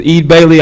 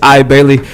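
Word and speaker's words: Eide Bailly: I briefed you all, I was pronouncing Ide Bailey as Ede Bailey. I just want to clarify for the record, it's Ide Bailey.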